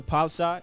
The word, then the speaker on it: Palisade: But before that, let's talk about this week's ride of the week, which is the 2022 Honda Palisade.